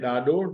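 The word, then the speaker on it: ڏاڏو: डाडो, DDA, डा, DDO, dough, डाडो। This is डाडो, this is डाल ladder वारो डाडो, डाल लेडर वारो डाडो।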